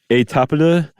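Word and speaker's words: Étaples: But there was a flu outbreaks over there in Europe, particularly at one called Etapida. I think I added a little extra mustard on that, but that's generally how you say it.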